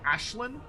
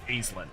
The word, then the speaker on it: Aislinn: Um, and GW just doesn't care because it's an Irish name and they're British.